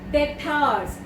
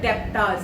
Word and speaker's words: debtors: Debtors, some it should not be, though B is given there, but B is silent there. Don't say debtors, वो गलत है.